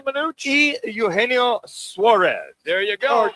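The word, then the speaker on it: Eugenio Suárez: How do you pronounce his name correctly, Manuch? Eugenio Suarez. There you go. Or Gino Suarez.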